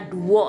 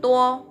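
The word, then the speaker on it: 多: Bukan bacanya duo ini ya, tapi tu t bacanya.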